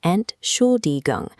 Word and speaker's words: Entschuldigung: Pronounce it Entschuldigung. Berliners will wait for you to finish the syllables.